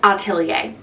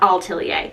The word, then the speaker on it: Atelier: this is in shade it's pronounced Atelier not all telier I've been adding in